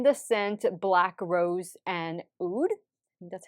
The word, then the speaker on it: oud: body mist in the scent black rose and oud that's how you pronounce it this kind of has a musk